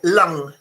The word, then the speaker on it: lung: Yeah, lung. And the other one is tongue. Okay, so this U and this O are pronounced exactly the same.